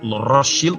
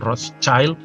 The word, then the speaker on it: Rothschild: Dan kemudian itu sama saja sebenarnya memberikan janji kepada pemimpin Zionis Inggris, sebenarnya mewakili dunia, Lord Rothschild bacanya, bukan Rothschild ya, Rothschild, tameng merah ya, itu simbol dari Zionisme, awal Zionisme, itu kemudian diberikan hak.